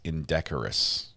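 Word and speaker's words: indecorous: It's indecorus. Indecorus. Not integral.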